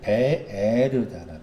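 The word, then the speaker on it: באר: 우물이라는 그 히브리 단어의 발음이 베에르잖아.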